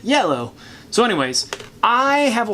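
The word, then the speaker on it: IELLO: of people pronounce it i ello which is fine but it's a french company and in france i believe they pronounce it yellow so anyways i have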